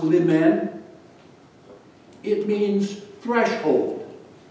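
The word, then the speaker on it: limen: new word for you it comes from the latin pronounced li men it means threshold it's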